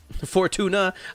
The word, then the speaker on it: Fortuna: Well, I mean, it's literally pronounced Fortuna, so it might as well be either.